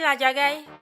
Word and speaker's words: Ladjagai: Ah, c'est comme ça qu'on prononce son ? Oui, oui, la djagaï.